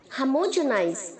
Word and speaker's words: homogenize: इसे बच्चों आप होमोजेनाइज नहीं बोलेंगे। एच के आगे जो ओ है उसे हम ए की तरह प्रोनाउंस करेंगे। ओके, और जो जी है उसे हम जे की तरह साउंड करेंगे। होमोजेनाइज, होमोजेनाइज्ड, होमोजेनाइज्ड। Okay, no होमो, हमो।